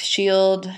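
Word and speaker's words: Scyld: Shield shaping shapen partium so notice here that we have this c c uh sorry SC sound which actually is pronounced with a a sh sound in our present day English um and you have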